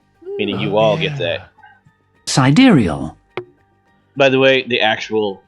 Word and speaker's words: sidereal: Sidereal. By the way, the actual pronunciation Sidereal.